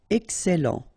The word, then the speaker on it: excellent: Okay, you've got double L here, and then it will open the sound of your E here, and it will be E. Excellent.